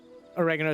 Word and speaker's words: oregano: wrong all right okay first off oregano is the right way to say it because italy says it that way and it's an italian spice secondly um you are